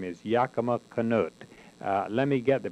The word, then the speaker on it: Yakima Canutt: And today I'm interviewing one of these individuals whose name is Yakima Canutt. Let me get the pronunciation. Is it Canutt? Yakima Canutt.